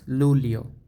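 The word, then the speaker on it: Luglio: June তারপর হচ্ছে জুলাই জুলাইটা হচ্ছে উচ্চারণটা একটু ডিফারেন্স লুলিও লুলিও জুলাই লুলিও তারপর হচ্ছে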